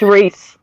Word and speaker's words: Rhys: say his name, but It's Reese. It's Reese. Reese? Reese? Yeah, Reese. How do you know it's Reese? Because my daughter's cousin, his name is spelled exactly the same way, and it's Reese.